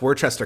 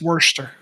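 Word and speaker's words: Worcester: speak to that I I believe that's Worchester County right or is am I am I wrong about which it's Worster okay um unpronouncable like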